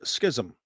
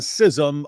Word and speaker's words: schism: Um, schism and sism are both uh appropriate and some of the dictionaries put uh schism as the main pronunciation and others put sism as the main pronunciation which means they're kind of even.